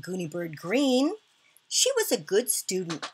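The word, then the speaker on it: Greene: My name is Gooney Bird Green. That's green with a silent E at the end.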